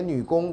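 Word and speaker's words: 女红: 啊，云髻掌呢，写女工，这红要念成工，对不对啊？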